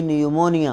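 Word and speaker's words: pneumonia: एन आई हां पी निमोनिया िया पी निमोनिया बोलते निमोनिया P silent है ही कॉ निमोनिया हां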